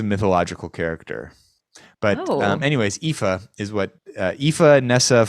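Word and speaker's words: Aoife: probably before we sing pronunciation it says IFA IFA see goodness gracious IFA that's what Google is telling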